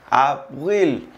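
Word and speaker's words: avril: El mes de abril se pronuncia abril.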